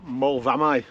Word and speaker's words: Moel Fferna: And only just discussing it now, we think that AU isn't U, it's I, so it'll be Moel Fferna.